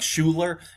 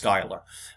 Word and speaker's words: Schuyler: okay it's looks like schuler um but it's pronounced skyler um phillip schuyler is